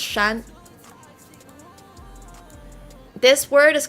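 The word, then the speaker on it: 山: Japanese is Yama in uh Chinese Mandarin it's pronounced Shan this word is called Tien um and I'm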